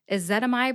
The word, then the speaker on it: ezetimibe: episode helps let's go a zetamide has four syllables e which is the short e sound kind of like the e in bed I also think it sounds like a schwa e that is the second syllable that rhymes with pet and this syllable gets